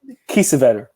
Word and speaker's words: Kiesewetter: Kiesewetter.